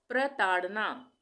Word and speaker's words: प्रताड़ना: शौर्य शौर्य प्रताड़ना प्रताड़ना यहां पे पदेन की मात्रा आ गई प्र के लिए प्रताड़ना तो यहां पे हम प का उच्चारण आधा कर रहे हैं और र का पूरा हो रहा है पदेन में प्र बोल के देखें प्र तो प का उच्चारण आधा और र का पूरा हो रहा है प्रताड़ना प्रताड़ना मौर्य कालीन मौर्य